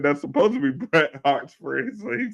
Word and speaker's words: Bret Hart: is don't you John it's supposed to be Bret Hart he just keeps saying I said Bret har every no no I said That's supposed to be Bret Hart's phras so he say it wrong every time